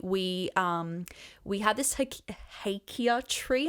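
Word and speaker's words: hakea: um we had this hakia tree I'm only just learning how to say the word properly because we've been calling Ikea for so long sounds cool though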